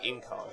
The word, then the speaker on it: Incarn: The Incarn. That's the way you pronounce it.